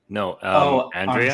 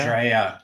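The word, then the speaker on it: AndrAIa: No, I was gonna say season 2 is also when they introduced how do you pronounce her name again? Mouse? Andrea. Andrea, yes.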